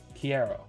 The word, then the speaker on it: quiero: First time you pronounced it was right. Quiero? Quiero. That's right. Q's are like C's in Spanish.